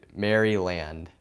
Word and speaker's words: Maryland: I just pronounce me how do you guys pronounce that marylande like that's how I yeah I pronounce that Maryland yep that's how I do it you know that's how I say it I mean I'm